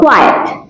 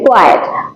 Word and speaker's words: quiet: তারপর কোয়াইট, উচ্চারণে কিন্তু ডিফারেন্স আছে। কোয়াইট, কোয়াইট মানে হচ্ছে শান্ত, নিরিবিলি বা নীরবতা, যেরকম জিনিসটা বোঝাচ্ছে।